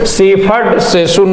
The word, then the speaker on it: Siegfried Sassoon: Siegfried Sassoon was and the English war poet born in, ये आपका कब हुआ 1886 होगा, सीफर्ड सेसुन होगा इसका करेक्ट प्रोनाउंसिएशन।